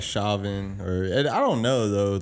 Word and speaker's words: Chauvin: I think it's Chauvin. Chauvin. Yeah. Like chauvinistic. It looks like Chauvin, or I don't know though.